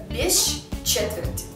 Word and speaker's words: без четверти: есть длинная ща получается или без четверти пишем без четверти но произносим без четверти здесь помимо длинного ща можно ещё произносить щч то есть гда у нас полу получится бещ четверти конечно некоторые слова вам